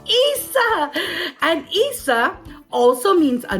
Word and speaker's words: isa: And here's one of the words that I want you to learn, and it's called Isa.